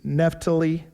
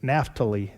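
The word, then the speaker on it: Naftali: And he sent him messengers unto Asher and unto Zebulun and unto Neptali. And they came to meet them. Now, I know I didn't pronounce Naphali. Nahali is the correct way.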